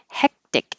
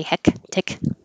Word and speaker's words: hectic: like a hectic this both of these c's sound like k's but you don't release the k and say heck tick you won't hear at